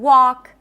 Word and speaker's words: walk: The L is also not pronounced in walk and talk. When there is an LK at the end of words, that is a common spelling pattern where the L is not pronounced.